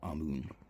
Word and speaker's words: Amun: Altogether, that's Imun or Amun. So, altogether, you'd say that Tut Ankh Imun or Tut Ankh Amun.